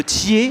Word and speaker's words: Thyez: êtes le maire de ther alors en haut de savoir on prononce pas les Z ni les X d'ailleurs et et premier vice-président